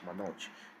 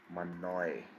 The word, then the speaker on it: Manoj: pronounce j in germany if people might pronounce my name as it is not going to be pronounced as manoj people pronounce my name as manoy because they do not know how the g is actually pronounced so few similar names